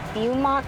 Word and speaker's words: Beaumont: So I'm actually going to cancel these suggestions and route myself to, I think it's pronounced Beaumont, California.